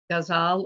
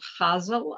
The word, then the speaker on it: ghazal: It became a ghazal or chazal, I've heard it pronounced, a Persian poetry form.